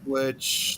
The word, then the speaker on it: lich: hand lich? Lich is how it's pronounced.